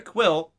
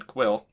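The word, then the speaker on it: Kuiil: a clone he's not genetically modified according to quill it's actually nice getting the pronunciation of his name in this one quill and now we know why he's so he's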